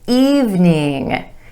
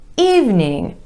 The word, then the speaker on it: evening: not interested number seven evening evening not even in evening two syllables with emphasis on the vowel sound II in the first syllable evening good evening have